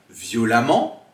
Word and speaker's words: violemment: donner un autre exemple violent donnera donc l'adverbe violemment que l'on prononce ici amant mais qui s'écrit avec un e alors faites bien attention